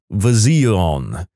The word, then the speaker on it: Von: in the chart and she wrote down Von she looked us Dead In the Airs and said the V is silent she also gave him